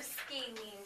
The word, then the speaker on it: scalene: Let's do the first part. Scale. Scaling. Scalene. What's our definition of scalene? No sides are the same length. Let's flip it over. Where are scalene triangles at?